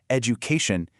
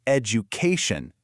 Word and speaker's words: education: The stress almost always falls on the syllable right before it. So, it's not education, it's education. That K gets all the love.